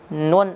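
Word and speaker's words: ن: Setelah la maju lagi sedikit, yaitu na. Jadi semakin ke depan, semakin mendekati bibir, huruf yang akan kita temukan yaitu nun atau na.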